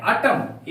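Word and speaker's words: autumn: एन आया है तो इस एन का उच्चारण नहीं करेंगे हम लोग क्या पेंगे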